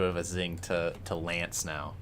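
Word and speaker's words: L'Anse: Bro, there's no way Lance is pronounced Lance. There's no way. I was taught it was one syllable.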